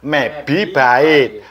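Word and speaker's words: mebibyte: Nah, bacanya MeBi bait.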